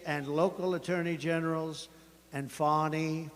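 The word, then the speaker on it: Fani: local attorney generals and fonnie fonnie you know fonnie spelled f a n i my name is FY F A ni I I don't figure it you put a little French Accent on the word with her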